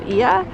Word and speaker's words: Oia: island is the town of IA um it's spelled oia if you see it